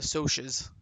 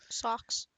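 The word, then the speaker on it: Socs: Socks. No, I don't know. It's because it's social. Yeah, I know. But I just sometimes I read as socks because it's spelled S O Cs, right?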